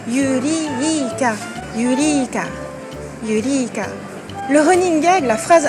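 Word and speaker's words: ユリーカ: Alors là, la difficulté, c'est l'allongement. Yuri, trait, ka. Le trait, ça matérialise l'allongement de la voyelle. Donc, Yurika.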